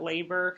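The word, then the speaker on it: Loeber: We also talked about 3 trajectories that Labor says that that's L-O-E-B-E-R, pronounced labor, says that people follow into crime and through crime and out of crime.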